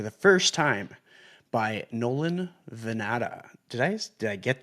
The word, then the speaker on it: Vannata: Welcome back to the Chasing Common Ground podcast and today I'm joined for the first time by Nolan Vanata.